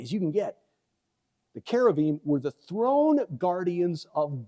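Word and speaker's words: כרובים: uh the cherubim uh actually in Hebrew we are told by our tour guides thank you yesai and CTI it's kavim so we try to you know just pronounce it the way the Hebrews pronounce it the Jews pronounce it kavim um we've got again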